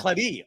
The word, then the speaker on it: Claret: Do you enunciate the T, or is it silent? No, it's silent. The T is silent. So Claret. Okay, great.